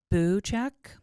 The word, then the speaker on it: Buchek: I'm going to say, actually, it's Buchek. Yes, because there's no Y in there. It's not Bu.